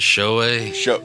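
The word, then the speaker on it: Shou: Show Tucker or Shoe Tucker. Wait, how do you say his first name? Is it show Yeah.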